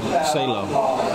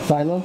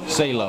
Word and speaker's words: Salo: Salo. Silo? Salo. How you spell it?